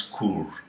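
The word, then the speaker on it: Coorg: me to pronounce okay c-o-o-r-g some pronounce it as kur okay yes in karnataka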